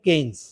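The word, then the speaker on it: Keynes: আমি বানানটা দেখে আসি নাই দেখে বলব কেইনস উচ্চারণটা কেইনস একজন অর্থনীতিবিদ সম্ভবত ব্রিটিশ অর্থনীতিবিদ কেন্সের একটা তত্ত্ব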